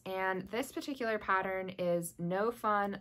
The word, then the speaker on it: Gnome Fun: this particular pattern is no fun like gome fun um and the no fun is spelled with a G so GN o no fun like gnome fun uh they designed this